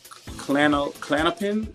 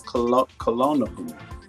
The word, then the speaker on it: Klonopin: It's not clan. It's Klonopin. What is Klonopin?